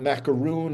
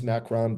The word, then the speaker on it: Macron: all of a sudden you've got macaroon and the French involved again yes I know his name is macron but you know I